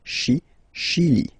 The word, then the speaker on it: Chili: Okay, remember, C-H, sh. Okay, Chili.